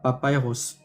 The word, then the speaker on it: papyrus: Donc en anglais c'est Papa Ros.